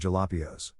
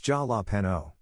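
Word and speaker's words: jalapeño: father goes wow look at this chocolate covered jalapios he pronounced it completely correctly his family burst out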